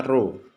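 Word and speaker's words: ρ: dibagi dengan volume benda ini bacanya roh jadi nulisnya gini hai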